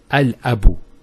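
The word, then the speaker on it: الأب: Notice here al-abu, it's pronounced.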